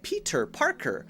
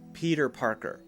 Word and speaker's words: Peter Parker: little more natural so if we say Peter Parker it sounds like we're trying too hard let's change the T to a light D sound Peter Peter Peter Peter Parker Peter Parker Peter Parker